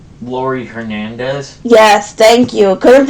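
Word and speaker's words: Laurie Hernandez: Oh, and my favorite gymnast is Laura Harand. Lori Hernandez. Yes, thank you. Couldn't pronounce her name.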